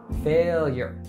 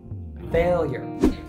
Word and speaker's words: failure: it fully er er the stress or emphasis is on the first syllable fail now let's say it together failure failure and ultimately the loss